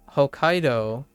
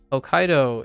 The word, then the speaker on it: Hokkaido: uh although in English it's still the second syllable but there's no T there's no small T right so it it's Hokkaido Hokkaido is still on the same the the stress